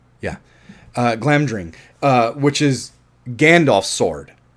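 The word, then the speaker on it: Glamdring: I get this wrong it's clam during right yes that is Glam drink which is which is um uh I'm pronouncing that right right yeah uh Glam drink uh which is Gandalf's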